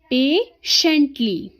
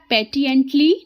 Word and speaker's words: patiently: इसमें टी जो होता है वो साइलेंट होता है. पेशेंटली, पेशेंटली. हम इसको पेटिएंटली नहीं पढ़ेंगे, हम इसको पढ़ेंगे पेशेंटली, है ना.